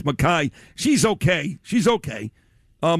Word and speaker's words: McKay: It's spelled McKay, but it's Mai.